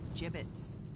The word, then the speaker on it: gibbets: had some gibbets leftover gibbets what pronounced jib 'it's what was learned okay I